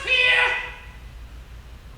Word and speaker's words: Pierre: on your arm squat it's pronounced Pierre you brought a Parr